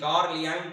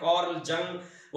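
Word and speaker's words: Carl Jung: वाई यू एन जी कार्ल यंग कर्ल जंग और देश के हिसाब से लोग उस व्यक्ति के नाम का प्रोनाउंस उच्चारण करते हैं उस व्यक्ति के कुछ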